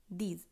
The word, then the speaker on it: douze: জেহো, অ, দো, থোয়া, ক্যাট, sec, seize, set, with, নফ, দিজ। এরপর আমরা 11 থেকে 20 অবধি উচ্চারণ প্রণালী দেখব।